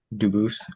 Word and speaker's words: Dubus: I am Dubus. Um, Dubis is the English pronunciation. Dubus is the original French and I am appearing specially in propriia persona, not prosay as sujis.